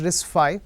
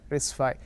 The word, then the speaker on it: RISC-V: of all it's pronounced risk five right a v symbol it's a Roman Roman v so it's number five risk five we'll get into history